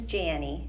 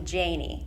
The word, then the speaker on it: Jannie: in the world yes so my name is Janie it's spelled like Annie with the J a lot of people like to call me Janie which is not right and it does sometimes